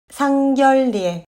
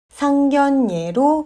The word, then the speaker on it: 상견례: 상견례는 상결례라고 발음하지 않고 상견례로 발음합니다.